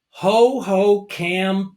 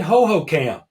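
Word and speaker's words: Hohokam: And Phil, Ho-Ho-Cam Park. I'm pronouncing that correctly, right? Ho-Ho-Cam.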